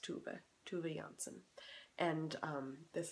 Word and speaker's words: Tove: and in Swedish uh sometimes the O makes an o sound and sometimes it makes an oo sound and you just have to kind of know when and so it's pronounced tuba TUV Janson and um